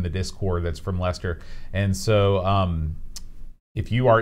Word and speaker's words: Leicester: this place here uh Lester shear oh you're so close it's just like Lester like Lester the unlikely okay he's gonna be